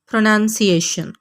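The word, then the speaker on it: pronunciation: आपने नाउन नहीं बोलना इस लफ्ज़ में बल्कि नन बोलना है।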